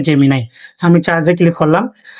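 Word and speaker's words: Gemini: এটা অনেকে উচ্চারণ করে জেমিনে। এটা সঠিক উচ্চারণ হবে জেমিনায়।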